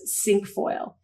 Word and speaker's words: cinquefoil: is also five but the way it's pronounced is sink foil so it has it